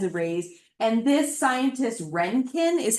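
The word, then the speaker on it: Röntgen: There's cathode rays and different kinds of rays and this scientist Renkin is how you pronounce his name.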